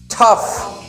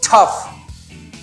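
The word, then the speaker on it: tough: तो जी के बाद में यदि एच आता है तो कई बार हम उस जी के साउंड को पढ़ते हैं, फ पढ़ते हैं।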